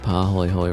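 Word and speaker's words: pāhoehoe: often foaming lava tubes, and is a Hawaiian word.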